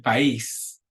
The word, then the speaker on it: país: nacionalidad, el número, el país. Notice there's that accent because the word ends in S, but we're breaking that rule.